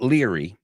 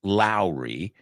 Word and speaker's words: Lowry: Miami detectives Mike Lowry, not Leary, Mike Lowry, and Marcus Burnett must